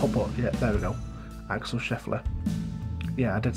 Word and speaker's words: Axel Scheffler: name wrong before but yet there we go Axel Scheffler yeah I did say his name wrong earlier on in the video I'm sure